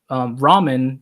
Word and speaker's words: ramen: facts about here that ramen is an example of Japanese Chinese food. And they adapted a Chinese dish called la mian, and in Japanese is pronounced ramen.